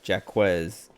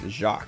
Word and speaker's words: Jacques: But remember when I was younger, I didn't know how to pronounce that, and I always said Jaquez. And then like me and my brothers and my cousins, Growlithe, there's a real Growlithe. We all pronounced it that way until my aunt heard us and was like, it's Jacques.